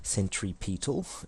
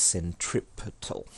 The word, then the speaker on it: centripetal: centripetal means center seeking please don't pronounce it this century Pete off its centripetal so centripetal in this